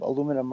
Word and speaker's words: aluminium: Uh mage, some some forms of aluminum are much more worthy than uh your average soda can. Aluminium if you prefer or however the words pronounce it.